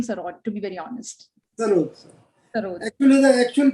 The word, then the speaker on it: sarod: He's been famously known as the sarod. It's actually sarod, if I'm not wrong. Sarod. Yeah. S-A-R-O-D.